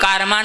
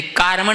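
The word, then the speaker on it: कार्मण: कई लोग कारमान उच्चारण करते, कारमण उच्चारण करना था। अनादि संबंध जो आता है ना, तेजस और कारमण शरीर, कारमण है शब्द वो, कारमान नहीं, इसको इतने ध्यान में रखना।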